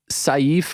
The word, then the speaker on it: Sayif: you said it right it's safe that's the correct pronunciation in Arabic it means sword so safe like safe that's that's how you say it yeah you got